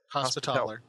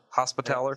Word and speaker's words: Hospitaller: Is the cleric meant to be more close to a priest or more close to sort of a hospitalier? Is that how you say it? Hospitaller. Hospitaller.